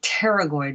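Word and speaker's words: pterygoid: what are known as the pteryloid muscles that p is silent and they and the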